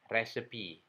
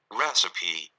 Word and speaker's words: recipe: Ini dibacanya recipe, resep makanan. Diucapkan recipe, recipe, recipe.